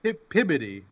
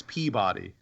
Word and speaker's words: Peabody: It's pronounced Pibbity. What? What? No. It's Peabody.